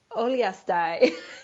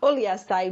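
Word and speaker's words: Uliastai: Oliastai. That's just fun. Oliastai, Mongolia, as a member of the U.S.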